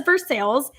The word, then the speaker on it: Versailles: like to pronounce things properly so yeah they pronounce it as for sales and so um yeah it was really fun